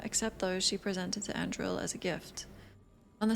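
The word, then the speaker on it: Andruil: This isn't pronounced Andrul. Andril hunted them all, and after a year of killing, approached Gillenane with an offer.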